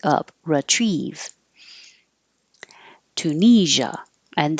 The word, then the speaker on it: Tunisia: uh like up retrieve Tunisia and this s i a sounds like a so make sure you have voicing it's like but with sound Tunisia versatile and it is